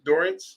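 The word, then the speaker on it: Dorrance: national championships played for I don't want to mispronounce it Anson dorance dorance yes Doren coach dorren who's still at Carolina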